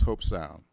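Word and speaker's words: Hobe Sound: Stewart even learned how to pronounce Hope Sound. It doesn't spell that way, but they told me that's the way I should pronounce it.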